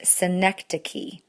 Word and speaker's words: synecdoche: We do need to talk about metonymy, and then number 29, which is pronounced synecdoche.